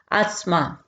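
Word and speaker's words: asthma: है टी एच लेकिन यहां पर हम यहां पर एस की आवाज यहां पर निकालेंगे आस्मा ठीक है आसमा आंख का नकस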